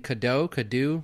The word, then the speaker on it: Cadieux: It's at Clayton Cadeau, right? At Cadeau Clayton. Okay, at Cadeau Clayton. And that is spelled Cadieux.